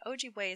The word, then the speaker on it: Ojibwe: lessons slash overview and ogway is spelled o j i b w e so you have a